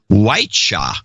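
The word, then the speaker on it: Wyche: And he says, if it matters, my last name is pronounced Whiteshaw. Whiteshaw. Like the ex-football coach.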